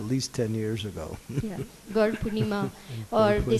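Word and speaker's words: Gaura Purnima: It's instead of not Gaur Purnim, it's Gaur Purnima.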